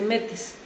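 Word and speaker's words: μῆτις: Y fíjense cómo se dice inteligencia, se dice metis.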